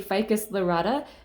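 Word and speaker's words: Ficus lyrata: The Latin name on this one I can pronounce with confidence. This is a Ficus Lorata, and nobody tell me otherwise that the pronunciation is wrong, because that's how I've been saying it for years, and that is how I will continue saying it.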